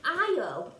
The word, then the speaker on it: Isle: today it's called the isle of skye so if you look at our where is that i love it's got an s in it but it's a silent s we don't say the s it's called the isle